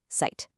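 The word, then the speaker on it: Zeit: And finally, the Z is a sharp T sound, kind of like the end of the word cats. So, site, which means time, is sight.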